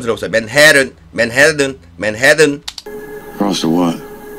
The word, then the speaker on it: Manhattan: Manhattan, Manhattan 그러지 마시고요. 지금 맥이 발음 들어보세요. Manhattan, Manhattan, Manhattan.